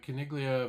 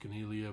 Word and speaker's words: Caniglia: Uh today we're going to look at Kiglia Vstrom. I think that's probably pronounced Canelia, but I'm going to go with Kiglia.